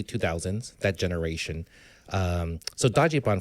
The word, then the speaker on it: dajiban: that Generation Um so Dody Bon first of all is the literal pronunciation of how the Japanese pronounce Dodge fan they break up the Dodge Dody and then ban Bon right and um yeah so